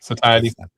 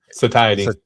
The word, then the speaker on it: satiety: Satiety. Satiety.